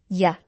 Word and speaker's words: il y a: Il, li, ya. Les Français, nous allons le prononcer ya.